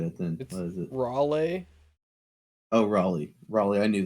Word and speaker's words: Raleigh: really yeah I don't even know how to pronounce this name okay well I won't get it then what is it Raleigh oh Raleigh Raleigh I knew that God damn